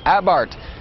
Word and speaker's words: Abarth: with the Fiat 500 abart it's spelled a b a r t h but the H is silent and the a is pronounced ah as in ah what happened to that